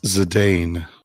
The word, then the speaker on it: Zidane: a limit break replacement it's zidane uh that actually is an acceptable way to say it um the english office is fine with the zidane uh but in the